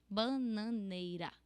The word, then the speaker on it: bananeira: It's not like ra. It's ra. Only one roll of your tongue. Bananeira.